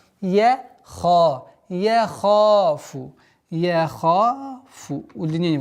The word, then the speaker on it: يخاف: Яха, чтобы твердое произношение звука я не было. Яха, яхафу, яхафу. Удлинение в размере двух огласовок. Яхафу уқуба.